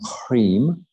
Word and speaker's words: hrim: So all we're going to do is going to chant this hrim. You'd spell it H-R-I-M, but you'd have a dot under the M and a straight line across the I.